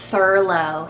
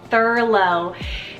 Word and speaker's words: Thurlow: list another one here that's super cool is Thurlow so t-h-u-r-l-o-w furlough this is is derived kind of from the